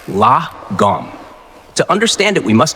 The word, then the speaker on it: lagom: looking at the world the word is lagom pronounced lagom to understand it we must go back in